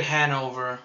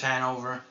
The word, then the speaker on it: Hannover: I'm hoping to get Hanover though I think this is Hannover it is Hannover we should have some